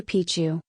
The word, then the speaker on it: Machu Picchu: For most speakers of English or Spanish, the first C in Picchu is silent.